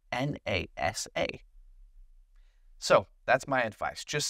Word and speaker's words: NASA: It's a little easier, unless you know that it is pronounced as a word. For example, NASA, N-A-S-A.